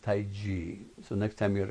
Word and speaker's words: Tai Chi: Europe I watched I gia watch people do Tai Chi really it's pronounced Taiji so next time you're at a cocktail party